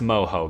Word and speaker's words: Moho: know I don't know but either way it's pronounced Moho guys we know it's pronounced I know what